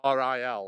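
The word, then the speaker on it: Rhyl: be yeah it's real it's pronounced like ril like real real yeah you're best just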